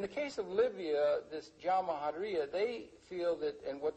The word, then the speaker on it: Jamahiriya: You'll hear Colonel Gaddafi talk about the Jamahiriya, pronounced Jamahiriya, which roughly translates, an Arabic term, which roughly translates out the state of the masses.